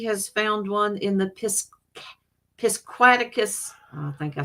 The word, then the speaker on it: Piscataquis: Richie says he has found one in the Piscataquis. I think I said it wrong. Piscataquis. Victorian, maybe. Brian Euler. That is awesome. I'm going to the few yards. Okay, cool. Piscataquis.